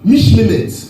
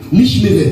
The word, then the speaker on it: Mishmeret: L'ordre, en hébreu, c'est Mishmemet. Je vais vous appeler tout ça, ne vous inquiétez pas. Mishmeret, pardon. Ça s'écrit M-I-S-H.